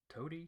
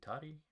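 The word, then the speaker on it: Toti: was he leopold t-o-t-i how do you pronounce that toady toddy tati we're good with toady uh that uh he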